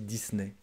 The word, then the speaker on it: Disney: walt disney disney disney on dit disney alors à paris c'est eurodisney ailleurs disney greenway banon dit euro disney à la française disney un troisième gillett jellett